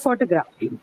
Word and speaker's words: photograph: Where is the stress mark here? Ma'am, in the first one. First one, right? Photograph. So it's marked on the first syllable.